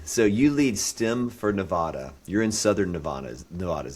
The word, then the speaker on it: Nevada: So when I say Nevada, I'm saying it wrong. Is that correct? Nevada? Anyone native will say Nevada, but anyone who gives